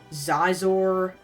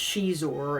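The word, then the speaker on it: Xizor: And uh for the fans in the know, I've always pronounced his name as Zizor. X I Z O R. I didn't know until like years later that it was pronounced cheesor and I don't like that.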